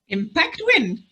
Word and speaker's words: Impact WN: we pronouncing it now impact win okay um we spelled impact wn but pronounced impact win yeah and in honesty